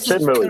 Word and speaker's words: Shenmue: Oh, he doesn't pronounce Enix right. Including Shenmue. That's Shenmue.